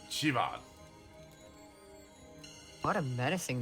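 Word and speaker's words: Siobhan: Yo, Sioban. Sioban. It's pronounced Chivad.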